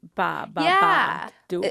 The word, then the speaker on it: Babadook: Early on it's like they say ba three times. Ba ba ba d.